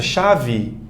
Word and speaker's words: chave: Chave. Tá? Muito comum na língua portuguesa uma palavra que termina em E ser pronunciada com I.